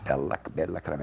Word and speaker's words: Bella Crema: And this is Bella Crema. Am I pronouncing it correctly? Bella Crema. Bella Crema in Italian.